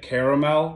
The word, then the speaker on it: caramel: Drizzle in some caramel, or as others like to pronounce it, caramel.